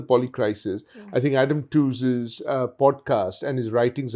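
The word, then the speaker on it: Tooze: uh an economist by the name of Adam tws who has a wonderful uh podcast uh titled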